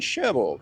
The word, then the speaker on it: Cherbourg: We are in Sher and we should get it correct as well because there's a G on the end of it, but the French don't pronounce the G.